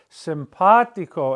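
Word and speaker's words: simpático: That's telling you to pronounce the word simpatico and not simpatico, simpatico.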